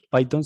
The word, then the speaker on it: Python: clic sobre ella y listo payton se escribe p y t h y listo una